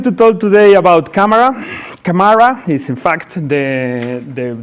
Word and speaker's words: Camara: Camara is in fact the the the pronunciation and it's telco APIs and telco APIs